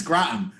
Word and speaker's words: Groton: It's Groton.